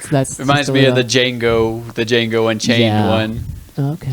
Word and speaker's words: Django: Oh, They just that's Reminds me of the Django Unchained Yeah. one. Okay. It's like, what's your name? Django. How do you spell it? DJANGO. The D is silent.